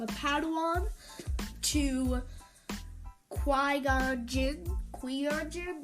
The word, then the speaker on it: Qui-Gon Jinn: he was Jedi apprentice, called a Padawan, to Qui-Gon Jinn, not exactly sure how to pronounce that, but I'm pretty sure it's Qui-Gon Jinn.